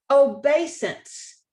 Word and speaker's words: obeisance: new words is obeisance obeisance notice that that sound is a long a because it's a long a the spelling is e i and our rule applies but we've also got